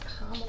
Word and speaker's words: Kamala: Like Kamala. Your mama love. Kamala.